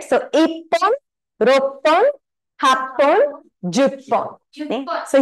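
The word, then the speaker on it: 一本: What should the pronunciation be? Very good. Ippon, right?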